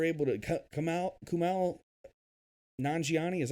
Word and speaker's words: Nanjiani: way that they're able to come out kumal nanjiani is how you say his last name a